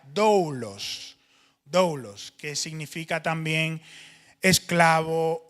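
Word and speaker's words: δοῦλος: Y en el antiguo griego el término se pronuncia doulos.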